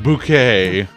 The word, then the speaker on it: Bucket: I don't know buddy I don't know it's pronounced bouquet uh excuse you Hyacinth I understand that reference